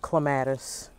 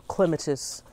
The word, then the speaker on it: clematis: It's my Jackmanii clematis, or clematis, depending on who you are and how you want to pronounce it.